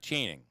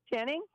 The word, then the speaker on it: Channing: Swann okay all right and it's Channing Channing yeah not chaining Danny how do you say it again Channing yeah that's that's good earlier you were like chaining I don't know maybe